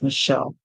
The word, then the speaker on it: Michelle: just be sure to use the most common pronunciation of the name which is Michelle like in the case of President Obama's wife